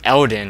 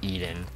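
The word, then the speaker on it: Eldin: game the bridge of eldon i pronounced that wrong last episode uh i said bridge of eden it's called bridge of eldon which is now split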